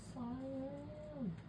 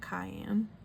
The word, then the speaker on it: cyan: Cyan. Definitely not cayenne.